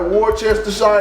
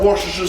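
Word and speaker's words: Worcestershire: If you don't know how it's pronounced, I'm going to get wor. It look like Warchester or whatever. I I was told it called Warasher sauce. Nobody knows how to pronounce this but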